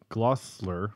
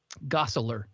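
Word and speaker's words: Gosselaar: yeah and so back to uh mark paul glossler why can't i say his name gossler thank you i don't know why that's hard for me to say mark paul gessler it was hard for me to say when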